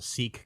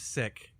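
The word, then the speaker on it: Sikh: then um there's a seek guy named uh who who call who says he's sick and not seek he says he's sick he pronounces It Sick instead of seek I think sometimes people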